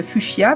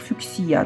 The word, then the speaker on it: fuchsia: pas en bouquet, c'est je sais pas si on dit le fuchsia ou le fuchsia. En Belgique on dit en général le fuchsia, mais si je regarde au dictionnaire la prononciation, il faut dire fuchsia, donc bref.